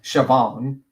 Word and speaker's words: Siobhan: It's pronounced Siobhan.